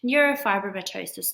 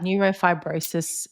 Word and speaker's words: neurofibromatosis: or 2.5 years old, he was diagnosed with neurofibromatosis type 1, which I had never heard of before. What is that? Neurofibrosis.